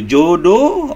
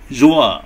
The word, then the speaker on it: João: How can I call you, Jodo or João? João. Oh, okay. Brazilian name is more difficult for me. Am I pronouncing your name right?